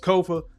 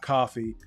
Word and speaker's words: Kofa: I have been your humble host, Kofa, Kofa, not coffee, not, not Kofi, or any variation thereof. Kofa rhymes with sofa.